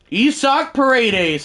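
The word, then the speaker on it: Isaac Paredes: Isak Paredes, and yes, I promise I'm pronouncing that right.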